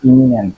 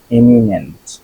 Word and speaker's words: eminent: Relocate, ইমিনেন্ট, এমিনেন্ট, এমিনেন্ট, এটা কিন্তু ইমিনেন্ট না, আই থাকলে ইমিনেন্ট হইতো, ই আছে দেখে ইমিনেন্ট, বিশিষ্ট বা প্রখ্যাত, এমিনেন্ট।